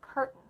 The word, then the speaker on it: curtain: and then say oh this glottal stop occurs and words like curtain frighten again we're not saying current or a frightened we're not even using our time to come up hurt in fright it